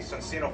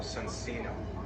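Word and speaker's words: Soncino: I wonder, how is that pronounced in Italian? Does anyone here know Italian? Is it Sonsino? It sounds the same? Because he knows your hand. That's it. Sonsino, there you go.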